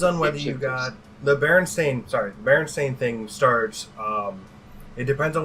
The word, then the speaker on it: Berenstain: believe on the books it's Stain. It's the Berenstain Bears. I don't know, it's been so long. I had it as Steam when I came here, so Yeah. Right, well, and that's how I pronounced it too as a kid. I think it's a misperception, like B was saying. It's a mis. You read it one way, but that's just not actually the way it is.